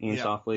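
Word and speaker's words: Iain Softley: Ian Softly.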